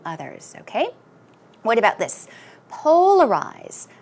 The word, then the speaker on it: polarize: okay what about this polarize polarize stress goes on the first syllable and some synonyms are